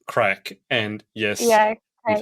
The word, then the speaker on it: craic: So it looks like crake, but it's pronounced crack.